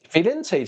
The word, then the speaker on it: Firenze: Firenze 才是正确的念法。